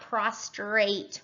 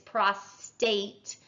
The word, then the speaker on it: prostate: to an enlarged prostate it's not prostrate within our folks it's prostate um and then BPH